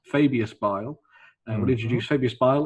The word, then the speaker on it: Fabius: So War of the Spider, which will introduce the new Fabius, because that's how you say his name apparently, Fabius Bile.